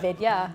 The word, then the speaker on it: Vidya: That is how I teach white people to say my name. Like, it's video, but but Vidya. Vidia. Yeah, but that won't give them to do like the DH sound.